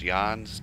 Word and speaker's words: Jahns: it's a and Fred I think it's pronounced yawns dc-3 or c-47 would